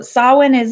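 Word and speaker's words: Samhain: bit about solvent if you see it it's spelled like Si mhm IM and happy halloween high rose water so Sawa niz a pagan tradition and a lot of the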